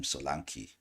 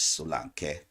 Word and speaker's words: Solanke: A lot of people call him Solanke. That's the English version. The right pronunciation is Solanke.